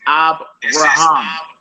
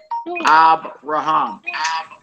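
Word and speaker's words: אַבְרָהָם: is that like a okay ACC on the last uh this right here the first word to right that says abam abam everybody know who that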